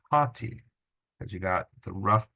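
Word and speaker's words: ὅτι: H in Greek but the H sound is going to be communicated or reflected with this rough breathing mark so this word begins with an Omicron but it's not pronounced ATI it's pronounced hati because you got the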